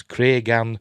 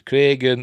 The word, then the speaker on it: Cregan: Also, hardcore fans and TikTokers, please note, Condal pronounces those names as Cregan and Daeron.